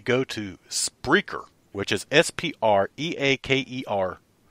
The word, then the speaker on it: Spreaker: SPR EA ke R that's the site that I've been pronouncing the whole time we've been on there which has been what about four months five months yeah yeah I've been pronouncing this the whole wrong the whole time it's Spreaker SPR e a ke